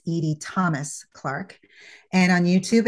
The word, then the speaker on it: Edie: Yes, and it's Clarke with an E, and it's Edie with 1 D. It's not Eddie.